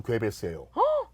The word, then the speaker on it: 괴벨스: 근데 더 욕을 먹는 사람이 누구냐면 괴벨스. 괴벨스예요. 아 그래요? 히틀러를 히틀러로 만든 사람이 괴벨스. 괴벨스고 아 진짜요? 우리가 현재 알고 있는 가짜 뉴스의 모든 ABC를 만든 사람도 괴벨스예요.